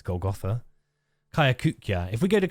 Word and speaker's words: Golgotha: will um I don't know why I'm saying Golgotha I've never pronounced it like that before in any time I've played caves of could it's Golgotha kayakukya if we go to kayakukia we can